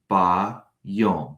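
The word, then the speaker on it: בַּיּוֹם: If we wanted to say in Hebrew, in the day, we would pronounce it ba yom. Notice there's an A after the letter B.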